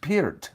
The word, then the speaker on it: Peart: It's actually pronounced Peart, Michael.